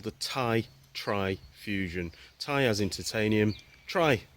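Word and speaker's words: Ti-Tri: I said it wrong before it's called the tie try fusion tires in titanium try as in three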